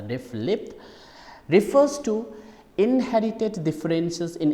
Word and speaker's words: RFLP: restriction fragment length polymorphism restriction fragment length polymorphism pronounced as a ref lip refers to inherited differences